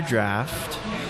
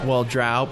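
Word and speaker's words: Draught: But yeah, this is Guinness Extra Draft, and it's extra stout. Well, you could say, drought, but it's actually pronounced draft.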